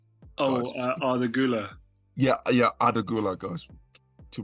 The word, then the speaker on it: Arda Güler: I did pronounce the guy, the Turkish player, Adore. Arda Güler.